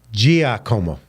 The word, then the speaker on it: Giacomo: So I always bastardize a word when a name when I'm talking, but you have D-I-G, and it's really D-I, it's pronounced D-I-J. So Giacomo.